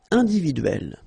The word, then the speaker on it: individuelle: So remember when you get this and then double consonant, and especially here it's the same one, that's the idea. It will open the sound of so you will pronounce it like é. Okay, individuel, uel.